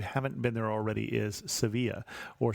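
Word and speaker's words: Sevilla: kadei if you haven't been there already is seevilla or Seville now I did not do that on this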